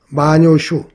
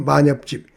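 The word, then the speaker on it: 万葉集: 일본의 마녀집이라고 있는데요. 마녀슈 우리 발음으로 만엽집 그 마엽집에 실려 있는 그 5천수가 넘다 그래요.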